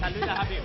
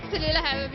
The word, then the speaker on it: Tallulah Habib: We're with you're going to pronounce it. Tallulah Habib. Tallulah Habib, you're right.